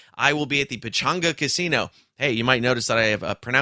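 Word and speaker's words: Pechanga: will be at the pichanga casino hey you might notice that I have pronounced that differently than the last couple weeks because I just found out that it's pronounced Pachanga and not Pachanga yeah so I will be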